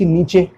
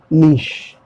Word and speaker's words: niche: I can't say NICH नीचे, no, what is this, नीचे नहीं हो सकता है, ठीक है? फिर कोई बोलता है नीच, नो, नीश, NEESH, नीश। NICHE प्रोनाउंसिएशन क्या होगा? नीश।